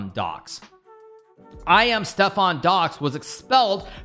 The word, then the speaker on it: Docx: As awesome as it is to say DocX, because of course, Microsoft Word, the extension ending is .docx. The correct way to say it is docs, apparently.